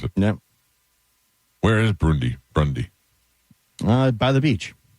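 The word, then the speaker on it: Brunei: Brunie, Brundy, Brunie, Brundy, Brunie, Brunie is good. Brundy's out.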